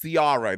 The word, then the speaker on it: Ciara: Yes, Ciara. That's how she pronounced her name. Ciara, not Ciara.